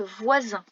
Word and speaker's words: voisin: Attention tout de même au son Z, qui est écrit avec un S entre 2 voyelles.